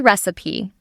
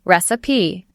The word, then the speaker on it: recipe: Yes, or recipe, but it's actually recipe. 3 syllables, recipe. The trick here, the end of this word rhymes with C.